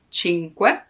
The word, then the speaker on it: cinque: The hardest thing to pronounce in this word is que, cinque, because there's the n. You have to stop a moment before adding que, because otherwise cinque, cinque, no. Cinque, take your time to pronounce it slowly, and then it will come more natural.